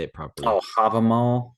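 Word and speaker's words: Hávamál: Oh, Havamal. Havamal, yeah.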